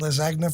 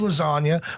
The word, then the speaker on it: lasagna: liz agnew we had les agnes for dinner last night well look at you do not think that's how it's said it's lasagna but i was just